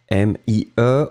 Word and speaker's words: mie: M-i-e, on ne prononce pas le E final, mi.